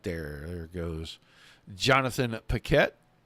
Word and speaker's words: Paquette: I don't think you pronounce it Paquet. There's an A. If it was an E, I would definitely say it's PK, but that's it. We're going to go with that, and if we're slaughtering